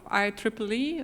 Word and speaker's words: IEEE: is Claire Neville I'm the senior director of I Triple E that's how it's pronounced this Institute of Electrical and Electronics Engineers